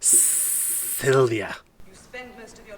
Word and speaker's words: Sylvia: No, it's pronounced Sylvia.